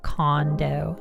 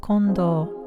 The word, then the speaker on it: Kondo: Same thing how people pronounce her last name like Kondo instead of Kondo, you know?